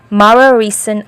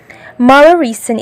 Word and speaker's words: Mararison: The last but not the least, my most favorite, number 1, Mararison Island, Antique Province. Formerly known as Malalison Island because the small community inhabited the island pronounced letter R as letter L.